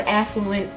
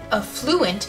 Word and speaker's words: affluent: it if pronouncing it a fluent is wrong some people don't want to be right the stress on this word is supposed to be on the first syllable f um sure I